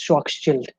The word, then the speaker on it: Schwarzschild: Sorry if I pronounce it wrongly, but it's for sure not child. It's Schwarzschild.